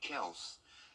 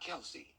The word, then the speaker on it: Kelce: that his brother's last name is actually Kels and not Kelsey.